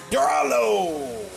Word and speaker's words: Jarrylo: It's pronounced Jarrylo. It's a Russian word.